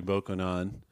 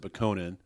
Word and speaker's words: Bokonon: always pronounce it Bokonan. It sounds like it should be Bokonon.